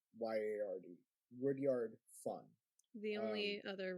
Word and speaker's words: Rudyard: supposed to be like the best friend of Rudyard. Rudyard, in a way, is a funny name in itself, because I don't think I've ever heard Rudyard. It's Rudyard.